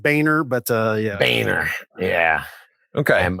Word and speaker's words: Boehner: Is it when John Bonier? what do we, who's this cat? Call him Boner, man. Call him Boner. Who is that guy again? He's a boner. Who is that guy? I'm Just pronounced Boehner, but yeah.